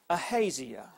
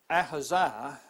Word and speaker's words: Ahaziah: Ahaziah, or Ahaziah, depending on how you might want to pronounce that. These words are always a little tricky. I'll just say Ahaziah.